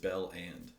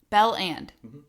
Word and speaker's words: Belland: properly like you're going to have it's just Bell and band is it not it's spelled that way too it's belland Bell and that and I'm saying belland oh okay so